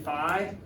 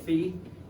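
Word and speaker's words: phi: know what that is that's the greek letter fee in america we tend to say five but the greeks pronounced it fee that's the uppercase lowercase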